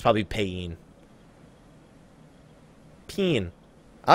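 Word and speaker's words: Paeon: It's not Payon. Payon is the other one. I say Payon. I say Payon just because Peen sounds fucking stupid, but it's more like Peeing.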